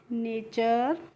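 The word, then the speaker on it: nature: तो जहां पे भी आपको टी यू आर ई एक साथ दिखेंगे वहां पे उसका प्रोनाउंसिएशन चर करके होगा।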